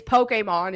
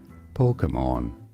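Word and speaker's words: Pokémon: some say it as Pokemon Pokemon so the emphasis is always on the first syllable but the middle syllable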